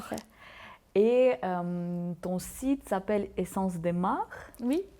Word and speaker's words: Essence des Mares: Et ton site s'appelle Essence des Mares. Oui, Essence des Mares. Je suis navrée si la prononciation elle est non, fausse.